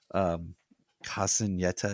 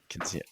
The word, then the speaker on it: Quinceañera: But Sarah is having her Casineta. Is that am I pronouncing it? Quinceañera.